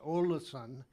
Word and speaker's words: Ålesund: But today I'm going to talk about our next ports, Olasan and Christiansan. Uh, by the way, the Ola the A with a zero or that's pronounced O in case you wonder the spelling, but Norwegian has its